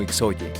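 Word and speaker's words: ΙΧΘΥΣ: Esta palabra es también la palabra griega para pescado, ictus, la cual cuando es deletreada en el griego en mayúscula es Ixoye, razón por la cual algunos la pronuncian como Ixoye.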